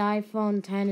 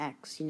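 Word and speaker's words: iPhone X: Oh, and also to point out that the iPhone 10 is actually pronounced it's called the 10, not the X, because if some of you are still, calling it the X, then yeah.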